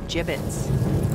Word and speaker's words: gibbet: look Avery had some gibbets left over gibbets what it's pronounced jibbets are you sure yeah